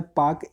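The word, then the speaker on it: Palk: है उसको कहते हैं पार्क स्ट्रीट पार्क का स्पेलिंग पी एल के होता है तो वह बच्चे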